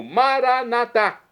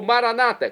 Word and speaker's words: Maranatá: E agora eu clamo, Maranatá, como dizemos nós católicos, ou Maranata, como dizem nossos irmãos separados das comunidades evangélicas. Não importa a pronúncia, o significado é o mesmo.